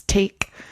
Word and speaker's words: take: French word like fiance, normally the e on the end will be silent. So the pronunciation is take. The last sound in that word is a k sound.